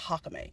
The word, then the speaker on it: Jacome: His name is spelled Jacome, though. It's pronounced Hakame.